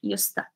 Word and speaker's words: used to: the stress, intonation, and the linking sound, the pronunciation, yusta. Because used to, we write it separately, but when we say it actually together.